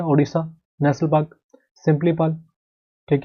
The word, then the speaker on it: सिमलीपाल: अगला बात कर लेते हैं जो हमारा है ओडिशा नेशनल पार्क, सिंपलीपाल, ठीक है, सिंपलीपाल होता है यहाँ पर, सिमलीपाल नहीं, सिंपली, सिंपलीपाल, ये कहाँ पर पड़ता है आपका नेशनल पार्क, ओडिशा में, सुपर इंपॉर्टेंट, ठीक है, सिंपलीपाल।